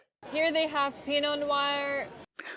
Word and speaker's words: Pinot Noir: Here they have Pinot Noir. We don't pronounce this wine Pinot Noir. It's not Pinot Noir. It's pronounced Pinot Noir. Use the R sound like car and far.